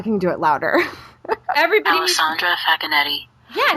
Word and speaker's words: Alessandra Facchinetti: Everybody Alessandra Facchinetti.